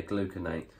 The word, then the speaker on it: gluconate: Next up, another type of creatine gluconate. Gluconate, am I saying it right? Yeah, gluconate.